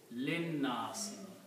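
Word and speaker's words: للناس: So this will become li anna si, and when you read together, this alif in the middle will not be recited. Linnas.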